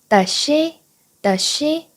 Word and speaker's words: does she: does she 사인해 줄 때 does의 s와 she의 s가 중복돼서 나와요. 그래서 발음할 때 does she 라고 발음하면 어려울 수밖에 없어요. s를 한 번만 발음해 주세요. 따라해 볼게요. does she 너무 쉽지 않나요?